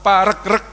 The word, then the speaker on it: Paregreg: namanya Perang Paregreg Hai saya tanya ke beberapa ahli yang betul itu dibacanya Paregreg apa Paregreg ternyata yang bener dibacanya Paregreg karena regu regu ya ini menunjukkan perangnya